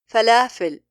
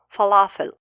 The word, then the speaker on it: فلافل: Lam is a thinned letter here. For that reason, the alif is thinned. A common mistake by non-Arab when pronouncing this letter is saying falafel. They are fattening all the letters of the word, while all these letters are thinned.